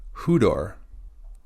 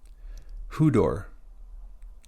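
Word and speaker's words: ὕδωρ: Next, we have hudor. Hudor. We have upsilon with a rough breathing and an acute accent.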